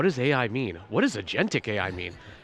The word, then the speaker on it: agentic: What does agentic AI mean? How do you pronounce agentic?